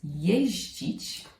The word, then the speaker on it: jeździć: The next verb is jeździć. And the pronunciation is quite difficult. You've got zi followed by dzi. Ździ, ździ.